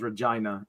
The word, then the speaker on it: Regina: But if it like middle of the country, Saskatchewan, okay, random province, their capital is Regina and it rhymes with a certain word.